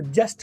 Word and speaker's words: just: अब जस्ट का टी आपका यहाँ पर नहीं बोला उसने, तो टी साइलेंट कर दिया, तो जस्ट की बजाय जस्ट 50 years ago।